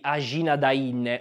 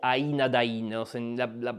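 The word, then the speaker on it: Ajnadayn: sarebbe la battaglia di ajin Dain o Ain Dain la pronuncia è un po' a metà tra queste due scegliete voi quale preferite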